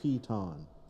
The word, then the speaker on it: piton: It's piton.